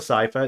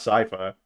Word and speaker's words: Cipher: Don't worry, Cipher. We're talking about Cipher, not Cyher.